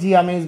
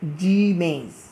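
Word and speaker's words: Zea mays: ভুট্টা, জি মেইজ, এটাকে অনেকে জি আমেজ বলে, এটা উচ্চারণটা সঠিক উচ্চারণটা হবে ভুট্টার সঠিক উচ্চারণটা, বৈজ্ঞানিক নামের সঠিক উচ্চারণটা হবে জি মেইজ।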